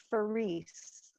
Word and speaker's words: Farese: for you my last name is fareese see yes so italian right exactly and my well it's my husband's name but my reading farise my maiden name was and it rhymes with fairies and i am a